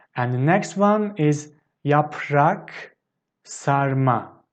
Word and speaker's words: yaprak sarma: taste of it and the next one is yaprak sarma yaprak sarma so basically it's wine leaves stuffed with rice